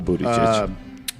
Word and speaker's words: Buttigieg: Yeah, I actually have the pronunciation spot on, by the way. I'm glad you do. It's so Buttigieg.